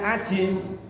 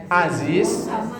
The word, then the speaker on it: Aziz: Aziz itu Perkasa kuat tapi karena bacanya Ajis ya jadi orang loyo jadi orang leto klemarklemer itu hurufnya beda tipis pengucapannya juga beda tipis Aziz apalagi kadang kalau orang Sunda yang ngajinya enggak enggak fasih huruf Za kan jadi ja ya Iya eh